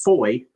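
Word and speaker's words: Fowey: And especially like the one river that they cross, it's spelled fo wy. And I'm like, "How would you pronounce this? Clearly the answer is foy."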